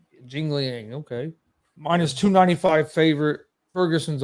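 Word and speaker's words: Jingliang: midlife crisis he's fighting yingling i think that you'd probably pronounce it jingling okay minus 295 favor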